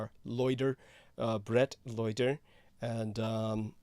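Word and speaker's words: Leuder: you're looking for him his name is spelled l-e-u-d-e-r loiter uh Brett loiter and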